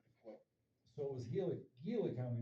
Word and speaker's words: Gila: So it was Gila County, not, or they pronounce it Gila? Gila. Is that how they pronounce Yeah.